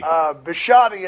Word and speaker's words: Bisciotti: this deepest guilty government some lowly gap Ernie bisciotti is the way that he pronounced his name that one's a little more